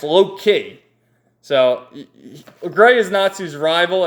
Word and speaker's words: Loke: So, now they're over here, and you got Gray, and this guy, I called him Loke, but it's actually, his name is pronounced Loki.